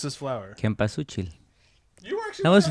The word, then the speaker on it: cempasúchil: pronounce this flower? Cempasúchil.